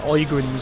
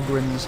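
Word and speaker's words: Ogryn: These are Oigrins or Ogrins, however you would like to pronounce it. Again, there's several different, depending on where you come from.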